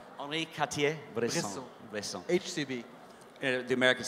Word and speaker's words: Henri Cartier-Bresson: Let me pronounce that right for you. Henri Cartier-Bresson. Henri Cartier-Bresson.